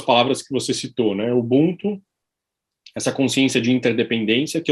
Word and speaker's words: Ubuntu: A pronúncia africana é Ubuntu.